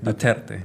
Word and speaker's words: Duterte: pronouncing that right? Yeah, Duterte.